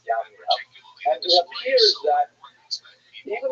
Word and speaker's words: Jamnia: So the Roman term for Yavneh is Yamnia, sometimes spelled with a J, pronounced Jamnia, but really it's Yamnia.